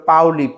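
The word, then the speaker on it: Pauli: পলি আমরা বাংলায় উচ্চারণে আসলে পলি পড়লেও ইংরেজিতে সেটা ছিল পাওলি।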